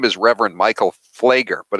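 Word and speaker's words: Pfleger: name is Reverend Michael flager but it's it's spelled p p excuse me PF l g r PF the the p is silent so there's this H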